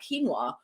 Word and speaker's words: quinoa: this whole conversation about quinoa you know because it's spelled q-u-i-n-o-a it's felt K you pronounce it k-e-e-n-w-a well you wouldn't know